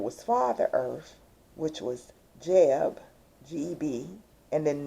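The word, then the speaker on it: Geb: That's another twin soul pairing where it was Father Earth, which was Jeb, G-E-B, and then Newt, spelled like nut, but Newt.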